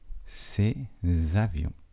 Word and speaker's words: ces avions: avions ses avions et il y a une liaison et de là il faut bien faire attention à cette liaison ces avions et voilà pour les